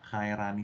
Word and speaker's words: Khairani: Ini membacanya Khairani apa Cairani? Cara membaca namanya. Ya, halo? Agak kecil suara Anda. Khairani. Ya, Khairani apa Cairani nih? Cairani, Pak. Gimana? Cairani. Oh, Cairani.